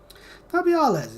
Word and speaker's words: Nabriales: I am Nabriales. Narbalas is actually the pronunciation, my And bad.